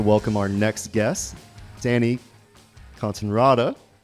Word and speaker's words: Cortenraede: La pleased to welcome our next guest Danny consonrada like it around you you said it right